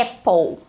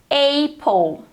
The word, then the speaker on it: apple: E aí, o correto para pronunciar em inglês essa palavra é apple. Apple. Mas muitas pessoas pronunciam apple. E por que elas pronunciam apple? Como que fala essa letrinha sozinha no alfabeto? A. Então, ela isolada, A. E aí a gente tende a colocar o som da letra isolada lá na palavra, mas não funciona assim no inglês.